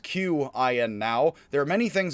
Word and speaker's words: Qin: spelled q i and for some reason q now stands for a ch sound so the chin which is actually where we get the word china from as much as